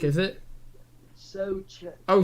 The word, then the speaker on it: Souček: I don't know how you pronounce his name. Souček, is it? Souček. Oh, Souček.